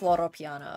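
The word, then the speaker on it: Loro Piana: I pronounce it Porsche. I don't know if that's right. Lamborghini is Italian. It is Loro Piano, okay.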